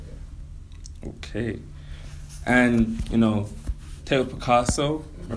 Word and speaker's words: Tao Piccasso: And, you know, Tao Piccasso, am I pronouncing that right?